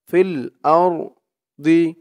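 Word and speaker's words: في الأرض: ফিল আর ফিল আর দি ফিল আর দি, এই যা চিহ্নতে থামলে বলতে হবে ফিল আরদ ফিল আরদ, এরকম করে বলে থামতে হবে।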